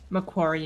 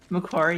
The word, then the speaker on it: Macquarie: to say the name of your college correctly Mac choir Macquarie University yeah say that one more time Macquarie University I'm such I'm such an American with